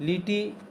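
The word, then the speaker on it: Lethe: लीटी, इसको S silent करके जब पढ़ेंगे तो इसको लीटी पढ़ेंगे और नहीं वैसे लीथी पढ़ सकते हैं स्पेलिंग की दृष्टि से।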